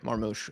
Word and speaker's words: Marmoush: How do you pronounce his name? Yeah, Marmoush.